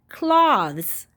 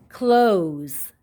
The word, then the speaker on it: close: an o here and so the o is long and the e is silent so this isn't cloths what is this word close close the o is